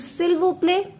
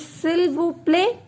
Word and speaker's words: s'il vous plaît: situation, we will use s'il vous plaît. I have not pronounced it vous. I have told you last consonant will never be pronounced. This is s'il vous plaît. S'il vous plaît.